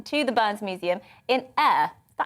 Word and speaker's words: Ayr: We sent our Scotland reporter, David Donaldson, to the Burns Museum in Ayr.